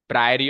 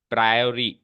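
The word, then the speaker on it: priori: संभावना को कहते हैं प्रायर और प्रोबेबिलिटी और इस वाली संभावना को कहते हैं पोस्टीरियर प्रोबेबिलिटी स्पेलिंग लिख के बताता हूं प्रायोरी पी आर आई ओ आर आई प्रायोरी और इसको बोलते हैं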